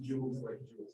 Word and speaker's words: joule: okay so joules joules joules are the units for energy pronounced jewels so let's identify the